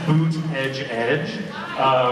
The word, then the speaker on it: Buttigieg: It says boot edge edge, which if you say very quickly is a way to pronounce Buttigieg, a presidential candidate who is my other doppelganger.